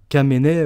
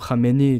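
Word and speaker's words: Khamenei: Euh, on a le guide suprême iranien Kamené ou Hamené, tout dépend de comment vous le vous le prononcez en français ou bien dans dans leur langue.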